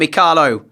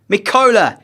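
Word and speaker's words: Mykola: finish and I'll apologize I got his first name wrong not M Caro shaparenko mola shaparenko Big Goal 20 minutes still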